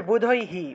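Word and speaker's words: বুধৈঃ: এই ক্ষেত্রে ঐকার আছে ঐকার থাকলে এখানে ঐকার হওয়ার কথা ছিল কিন্তু ঐকার হবে না এখানে আসলে উচ্চারণ হয় ঠিক আছে বুধৈহি বুধৈহি এটা একটা ব্যতিক্রমী নিয়ম অর্থাৎ যদি ঐকার থাকে অর্থাৎ বিসর্গ এর আগের অক্ষরের সাথে যদি ঐকার থাকে তবে সেই ঐকারের মানে সেই বিসর্গের পরিবর্তে যে হ টা আসবে সেই হ এর সামনে রসইকার যুক্ত হয় অর্থাৎ ঐকার থাকলে রসইকার যুক্ত হবে সেই হ এর সাথে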